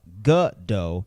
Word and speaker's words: Gadot: saying her name as gal gadot or gal gadot you should be saying gal gadot this is